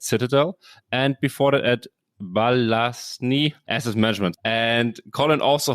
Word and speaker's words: Balyasny: How do you correctly say the last employer that I completely butchered? Yes. It is a firm called Balyasny Asset Management. The founder of that firm is a gentleman named Dmitry Balyasny, who's one of the icons of the hedge fund world.